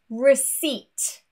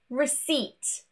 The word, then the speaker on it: receipt: Two random words that have a silent P are receipt, no P, receipt, and also a coup.